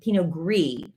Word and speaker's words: pinot gris: excuse me i'm learning pinot gris i always thought you pronounced the s on them but you don't pinot noir glitz and